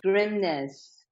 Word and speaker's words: Grimness: us who you are grimness it's a Norwegian last name I'm married into it grimness and I'm founder of